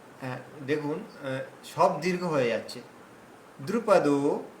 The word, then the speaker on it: দ্রুপদ: সব দীর্ঘ হয়ে যাচ্ছে দ্রুপদ দ্রুপদ দেখুন দ্রু আর পতটা দ্রুত এগিয়ে গেলাম দ্রুপদ এভাবে বলুন দ্রুপদ্রপদ দ্রুপদ্রপদ্রপদ দ্রুপদে আস না না না যদি আমরা বলি দ্রুপদ বললে দয় দীর্ঘ হয়ে গেল তাহলে এখানে হসু রয়েছে দ্রুপদ দ্রুপদ না দ্রুপদ বললেই দ্রুপদ বললেই হবে না দ্রুপদ্রপদ দ্রুপদ